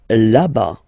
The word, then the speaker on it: là-bas: Là-bas, là-bas. Remember, final S not pronounced.